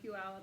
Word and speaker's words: Puyallup: She went to Pew somewhere this weekend and she couldn't pronounce it. So Joe had to tell her Puyallup, and I said, "You went to Puyallup?"